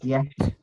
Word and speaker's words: Ziyech: I believe it's pronounced Ziyech.